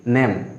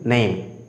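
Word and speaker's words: name: বন্ধুরা আমরা এটা উচ্চারণ করি নেম, বাট it will be নেইম। আমরা সাধারণত ভুল উচ্চারণ করে থাকি, আজকে থেকে আমরা শুদ্ধ উচ্চারণ করব নেইম।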